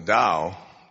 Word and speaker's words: Tao: Now the Tao, the Ching, T-A-O, it's pronounced D, but it's Tao.